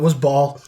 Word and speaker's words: Bhaal: So the one I really liked was Ball. Yes, Dan, I like Ball. He is great. He looks Bhaal. Sure. Yeah. Yeah. No, that's how you pronounce it, but that's how you spell it.